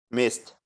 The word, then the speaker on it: missed: would you pronounce this mist missed good job oh you remember that we don't pronounce the letter e so miss uh and here uh